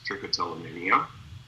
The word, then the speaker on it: trichotillomania: learn how to spell and you can actually pronounce trichotillomania people perceive you as an expert right so